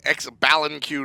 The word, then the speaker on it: Xbalanque: Yeah, AirCougar will take Xbalanque to the long lane, and we'll see.